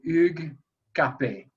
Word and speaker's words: Hugues Capet: Hugh Capet. In French, we say Hugues Capet.